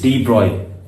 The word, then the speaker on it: de Broglie: तो डी ब्रॉय जो scientist थे, फ्रेंच साइंटिस्ट हैं, लुइस डी ब्रॉय, ब्रॉगली नहीं, इनका प्रोनाउंसिएशन होता है डी ब्रॉय।